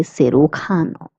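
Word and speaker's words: cirujano: J is pronounced as C. Hence we say Sukano.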